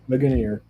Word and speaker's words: Ligonier: that coffee and I couldn't remember how to pronounce it. It was like Legionnaire or Ligonier. Yeah, Ligonier.